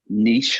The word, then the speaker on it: niche: the recruitment the Staffing Niche or nich N I think you guys pronounce it go there if you're